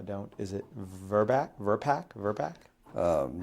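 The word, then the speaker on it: VRBPAC: Verbac. Um, how does it normally pronounce?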